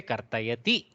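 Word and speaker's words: कर्तयति: Don't do Dirga of Kartayati. Just say Kartayati. Cut the ikara.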